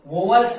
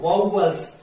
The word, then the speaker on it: vowels: तो इसको वाउवल्स, वोवल्स नहीं, वाउवल्स।